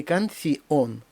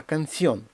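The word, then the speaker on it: canción: ще один прикла Канон не кансон а канціон дифтонг наголошений і щоб він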